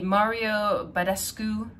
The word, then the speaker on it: Mario Badescu: was worth the price tag so it's the mario badescu that's how you pronounce it um facial spray and this is